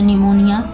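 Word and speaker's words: pneumonia: the duffel less मोनिया निमोनिया देखि य पर प साइलेंट इसको पढ़ते निमोनिया तो आंसर राइट सो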